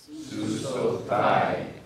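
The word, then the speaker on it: סוּסוֹתַי: Now, be aware that sometimes in Hebrew, the holam wow in a form like this will change to just a holam. It'll still be pronounced the same, susothai, but it'd be spelled with what they call a defective form rather than the full form.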